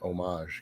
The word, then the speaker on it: homage: 20 years he said i said it right the first time homage because he had a french girlfriend so i did see